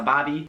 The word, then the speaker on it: barbie: one should probably have been higher up on the list, but that is a bobby, spelled like Barbie, but not that Barbie.